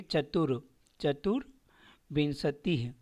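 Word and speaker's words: चतुर्विंशतिः: लिए चतुर चतुर विंसति यहां जो र की मात्रा है वो आगे व के ऊपर दिया हुआ है तो यहां पे पढ़ेंगे चतुर चतुर बिनतीह पंच विंसतीह 26 का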